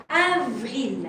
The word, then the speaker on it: avril: Avril. A. And careful, I don't want to hear because belongs to English. And we don't have this sound in French. A is A. And A sounds like A.